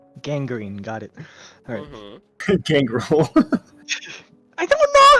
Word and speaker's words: Gangrel: Gangrel. I don't know how it's pronounced.